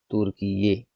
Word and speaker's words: तुर्कीये: अब इस नाम से लिखा जाएगा तुर्कीये। ध्यान दीजिएगा इस पर दोनों के स्पेलिंग में।